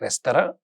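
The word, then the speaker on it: restaurant: French में उसका pronunciation है रेस्तरां, और हम जब हिंदी में या अंग्रेजी में बोलते हैं, खास करके इंडिया में जब हम ये बोलते हैं तो उसको रेस्टोरेंट बोलते हैं।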